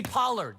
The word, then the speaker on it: Pollard: Tony Parker yeah see you just dismissed Tony Pollard get it right because you're going to have